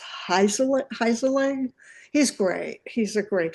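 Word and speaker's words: Heinzerling: and it's Zachary Zachary and how do you pronounce his last name Doug? It's Heiselang.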